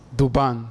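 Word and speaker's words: Duván: Duvan, sì. Duvan. La curiosità con accento è... la A. Esatto. Duvan.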